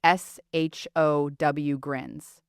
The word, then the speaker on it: Sjögren: You say it like s h o w grins.